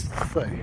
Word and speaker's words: Cee: I asked the lady in the cafe, how do you pronounce that? It's not C, it's not Chi, apparently it's Thay.